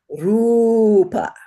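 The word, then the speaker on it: rūpa: So technically it's two beats like that, but we're going to extend it and exaggerate it a little bit as we learn it.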